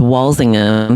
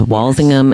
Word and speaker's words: Walsingham: yeah so it's it's wallingham so they don't say the H so it's wallingham and langum yeah so